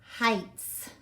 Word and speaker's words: Heights: IgH do you remember when you see I gh together it's a long I and the G H or silent guess what this e is also silent that's so tricky Heights that word is Heights